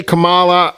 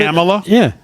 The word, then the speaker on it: Kamala: Kamala Harris. That's not how you pronounce it. I've heard Kamala? I've heard it announced both ways for the whole time we've been aware of her existence.